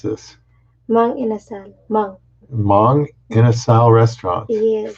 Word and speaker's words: Mang Inasal: How do you pronounce this? Mang inasal.